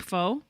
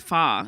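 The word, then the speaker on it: pho: about that before when you know the soup foe yep but it's actually pronounced fah and then when i worked in an italian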